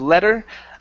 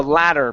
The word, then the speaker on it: ladder: the word ladder okay give me an a sound open the mouth up wide instead of letter the ladder perhaps ladder perhaps good